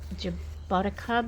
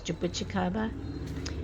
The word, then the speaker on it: jabuticaba: we've got some young jabuticaba. A lot of Australians pronounce it as jaboticaba, I think they say, but the Brazilian term is jabuticaba.